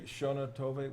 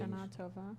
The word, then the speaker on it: Shana Tova: the Shona Tove? How do you say the blessing? Shana Tova.